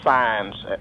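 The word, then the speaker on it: Saenz: And she pronounced her name Signs, like a stop sign.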